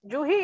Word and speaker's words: Juin: Yeah, it is Juhi actually, but I write Juin because I'm Bengali, okay. So it is Jui, N is silent.